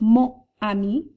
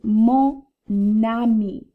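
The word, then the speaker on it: mon ami: this before where that last consonant that's silent in mo travels over to start the word ami so it's not mo ami let's look at the hiccuping it's mo nami the same for the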